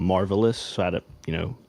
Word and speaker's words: Marvohlis: pronounce my name right they thought I was Marv Ellis but I'm marvelous so I don't you